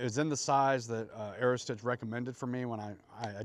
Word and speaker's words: Aerostich: I see people misspell it often. They spell it stitch with a S-T-I-T-C-H at the end. There's no T at the end, so it's like Aerostich, I think is maybe how they pronounce it.